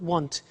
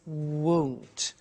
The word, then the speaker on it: won't: careful with the pronunciation it's not want it's won't so the example is